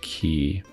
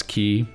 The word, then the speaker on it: quay: I wonder how many people are going to know that it's pronounced key.